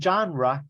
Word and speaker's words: genre: Or I like action movies, but I like my favorite genre, género, es genre, y esa palabra genre viene del francés.